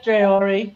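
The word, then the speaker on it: Traoré: So Ibrahim Tro Trayor uh how do you is that how you say his name, sister? Yeah. Trayor. Yeah.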